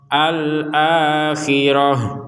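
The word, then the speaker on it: الْآخِرَة: dibaca huruf ha akhirah alakhirah jadi huruf ha karena berhen berhenti tapi kalau melanjutkan kepada potongan ayat berikutnya maka kembali menjadi huruf ta sebagaimana semula contoh Qul inat lakumudul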